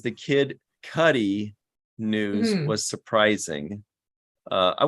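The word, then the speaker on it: Kid Cudi: my orange joke and he says it's pronounced kid Cuddy not cutie it kind of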